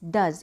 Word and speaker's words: does: और है second डज, डज means DOES, डज, इसका उच्चारण है डज।